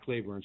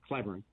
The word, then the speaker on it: Cleburne: i think i just it was clybourne not cleveland sorry cleburne um yeah i i